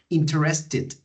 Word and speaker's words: interested: okay in interest and remember when we have verbs ended in t or d sound we have to add extra syllable interested okay in present interest